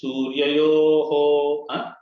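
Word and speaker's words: सूर्ययोः: Mataji, always the visarga has to be pronounced properly. Rasoham apsu kaunteya prabhasmi shashi suryayoho. That's the way it is.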